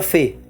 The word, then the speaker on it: phi: Es el número phi, dijo, pronunciando las consonantes como una F.